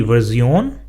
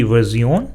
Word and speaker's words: Version: that we have the version which means version the version so you see how the word spelling is the same but it is pronounced differently so the version the next word is